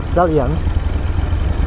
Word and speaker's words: Salyan: better is a l-y-a-n looks like so yeah or salyan more like a celly but anyway we get